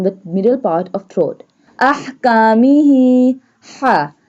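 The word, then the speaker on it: أحكامه: Ahkamihi. Ha. This one ha pronounced from the middle part of throat.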